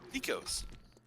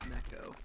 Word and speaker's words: neko: Just kit tease, Nico's. exactly. Just call it Nico porn. It's actually pronounced Neko, but Whatever.